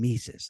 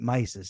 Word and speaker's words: Mises: about this guy named mises I pronounced it mices at the time so they have his